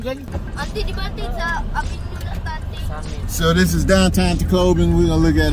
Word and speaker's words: Tacloban: Tacloban.